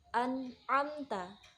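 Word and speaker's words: أنعمت: Cara membacanya itu jelas. Kita ambil contoh. An'amta, an'amta. Jadi situ ada mim sukun yang bertemu dengan huruf ta. Nah, huruf ta ini adalah salah satu huruf izhar syafawi. An'amta, jelas.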